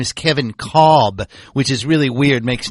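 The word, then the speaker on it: Kevin Kolb: Cardinals uh and it's actually his name is Kevin cob which is really weird makes no sense to pronounce it that way but that's how he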